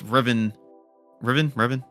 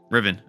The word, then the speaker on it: Riven: doing it, it's Vexius who brainwashes or infects Revan. I'm messing it up again. How do you say his name? Riven infects Riven with his dark magic and turns him into another spy.